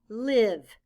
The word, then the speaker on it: live: In this word, the letter I stands for the short I sound. I. And the E is silent.